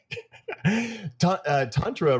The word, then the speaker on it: tantra: I'm going to pronounce it tantra, tantra. So tantric yoga, but you can say tantra.